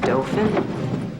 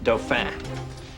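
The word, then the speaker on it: Dauphin: your name is mr dolphin it's pronounced dophan boss knows that he just likes to tease me as in a young french king yes see i wanted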